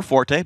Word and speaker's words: forte: It's all different names for the same team, but that's his fort or forte. Both work, by the way. You can use either.